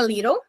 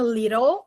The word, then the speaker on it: little: Ou ela pode falar um pouco a little na pronúncia americana. Little na pronúncia britânica, little.